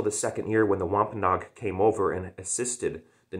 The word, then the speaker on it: Wampanoag: 90 uh um wampanoag i think wampanoag is how you pronounce it wampanog uh natives that helped